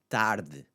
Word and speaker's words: tarde: So the E is the focus there on the sound, but see what it does.